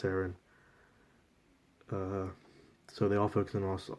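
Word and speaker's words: Seirin: I think it's pronounced Saren.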